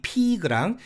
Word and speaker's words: pig: 여기서 첫 번째 pig, pig랑 세 번째 do의 과거형 did는 장모음화가 적용돼서 pig, did 이렇게 읽어야 되는데 이걸 짧게 발음해서 pig, did 이렇게 발음하면 절대 안 되고요.